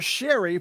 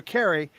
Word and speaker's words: Carey: You've also heard me pronounce him as Ender Sherry for many more times than I pronounced him Ender Carey.